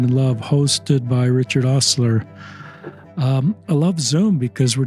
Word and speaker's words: Auseuga: It's pronounced Auseuga.